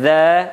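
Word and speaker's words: ز: Jadi kalau huruf za pengucapannya za, zi, zu tipis, dha tebal, dha, zi, zu.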